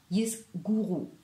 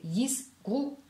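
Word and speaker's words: יסגרו: Ce n'est pas tisguru ou tisguri, tisgri et tisgru, yisgru, pas yisguru ou yisguru. Non, c'est yisgru et tisgru.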